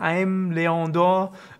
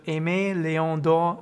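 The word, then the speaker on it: Aimé Leon Dore: Ich habe mir extra ein Video angeguckt, wie man das sagt, weil ich habe immer vorher gesagt, Aimé Leon d'Or war auf jeden Fall falsch, denn es wird Aimé Leon d'Or angeblich ausgesprochen.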